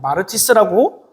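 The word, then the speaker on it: μάρτυς: 그런데이 증인이라고 하는이 말은 헬라어로 마르티스라고 발음하는데이 말의 의미는 두 가지 의미를 갖고 있어요.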